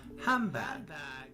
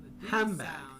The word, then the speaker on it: handbag: The D sound in handbag becomes a B sound because of the following B that handbag. So the D sound in hand becomes a B sound because the following B making a handbag. Say it like this. She picked up her handbag.